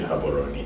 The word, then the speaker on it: Gaborone: do live in in gaborone I live in haberoni yeah I live in haberoni um the G is pronounced as H in the local dialect is okay yes yeah